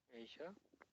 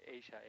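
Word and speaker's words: Asia: এশিয়া Pacific ঠিক আছে university এশিয়া specific of এশিয়া Pacific ঠিক আছে বলেন এইটা এখানে এ বড়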